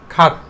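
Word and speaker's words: cart: খাট উচ্চারণ করব। এটা মানে কি? পশুবাহিত মালগাড়ি। ওকে? পশুবাহিত মালগাড়ি। এরকম তোমরা যদি আর এর পরে কনসোনান্ট লেটার পাও তাহলে অবশ্যই এই আকে সাইলেন্ট করতে হবে।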